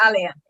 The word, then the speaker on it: Alia: And by the way, Alicia, when I was, is it Alicia, right? Is that the correct pronunciation? Alia. Alia. Alia.